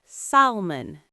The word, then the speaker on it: salmon: S A L M O N. Ah, I know this. Many people say salmon. They pronounce the L. Yes, but the L is silent.